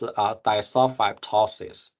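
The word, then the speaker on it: disulfidptosis: pronounce it but basically this second D here is not pronounced so basically uh pronounced as duli tosis so we want to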